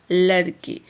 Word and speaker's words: लड़की: लड़की, यह है आपका लड़की। तो जब हम बोलते हैं लड़की, उच्चारण लगाते हैं लड़की, तो यहाँ दबाव पड़ता है, विशेष बल देना पड़ता है।